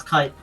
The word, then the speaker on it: Kite: which you recognize as coming from Kit, or is it Kite? Sorry. It's Kite. Kite, yeah, from Kite.